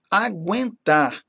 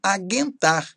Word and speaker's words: aguentar: Por exemplo, pronunciar como ditongo, aguentar. Ok? Ambiguidade, apaziguar, arguição, arguir, bilíngue, consanguíneo, contiguidade, ensanguentado, exiguidade, lingueta, linguista, redarguir, sagui e unguento. Ok? É errado falar aguentar, por exemplo, ou consanguíneo, certo?